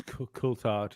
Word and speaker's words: Coulthard: I think it's Coulthard, yeah.